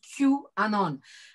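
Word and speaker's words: QAnon: presse un peu française, le fameux truc qui s'écrit avec un Q majuscule et puis Anon et qu'on prononce Q Anon.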